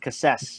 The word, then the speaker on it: Cassese: Cassese. Yes. You can pronounce it any way you like, though, because I don't like to be particular about it.